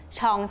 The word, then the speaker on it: Jean: ช่อง ของ เรา และ คน จะ อ่าน ว่า เป็น จีน ใส่ จริง ๆ คือ เป็น ช่อง ซึ่ง มา จาก มวล ท้อง ภาษา ฝรั่งเศส ก่อน